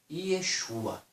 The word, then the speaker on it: Yeshua: Se fosse trazer para nós hoje Yeshua, o nome original ficaria o quê? I-E-X-U-A. Yeshua. Pelo suar da boca. Yeshua. Soa para mim como o quê? Yeshua. I-E-X-U-A. Yeshua. Soa isso.